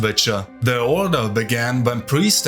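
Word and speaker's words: Wicca: It served as a prototype for later organizations like Telema and Witcher, and yes, it's pronounced Witcher.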